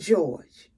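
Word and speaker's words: JohGe: his name is spelled j-o-h capital g e pronounced George and I tell you he just did my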